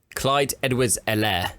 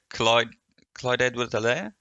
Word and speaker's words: Clyde Edwards-Helaire: See how you think his name is pronounced. I've missed this. Clyde Edwards-Helaire. Oh, close, Chiefy. Yeah, Clyde Edwards-Helaire.